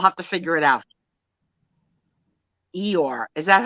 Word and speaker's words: Eeyore: Eeyore. Is that how it's pronounced? Eeyore? Eeyore.